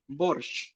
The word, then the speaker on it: борщ: Borshch. Borshch. It's obvious, right? Borshch. Borshch. Borshch. Borshch. Borshch. Like train. Borshch. But not soft one. You are softening it. Borshch.